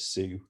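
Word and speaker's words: Siox: with a product called depending on how you want to pronounce it i've heard a lot of different ways um cx well we always called it sue because it sounded easier s-i-o-x which is a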